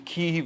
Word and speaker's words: Kyiv: And I'm calling it Kyiv because Kiev is the Russian pronunciation, so we should all go out and buy our chicken Kyivs in solidarity. So what's Kyiv then? Is Kyiv the British? Kyiv is how Ukrainians pronounce it.